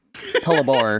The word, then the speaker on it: Patlabor: The word, which I was mispronouncing. Patlabor, correct.